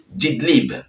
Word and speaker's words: Idlib: le HTC dans la ville dididlip excusez-moi la prononciation c'est pas facile didlibe voilà c'est comme ça qu'on dit alors en